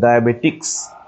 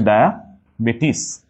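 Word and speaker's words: diabetes: হচ্ছে মাঝখানে জেড ডায়াবেটিস বানানে আমরা প্রায় বলে থাকি হচ্ছে ডায়াবেটিক্স এটা কিন্তু ডায়াবেটিস না ওকে এটা কিন্তু হচ্ছে ডায়াবেটিস ইট ইজ নট বেটিক্স ডায়াবেটিস বানানোর ক্ষেত্রে হচ্ছে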